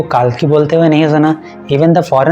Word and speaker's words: Kalki: जब टाइटल का स्पेलिंग में KALKI है, तो आप उसको कल्कि पढ़ोगे या काल्की पढ़ोगे?